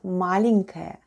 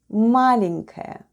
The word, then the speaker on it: маленькая: The first sound is m, then we have a, l, e, n, then goes soft sign, and soft sign makes the preceding letter sound soft. So we have n, then goes k, a, and ya.